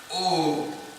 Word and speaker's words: Om: When you explain the sacred syllable Om, you refer only to the O, the U, and the Ma. A-U-M. Om.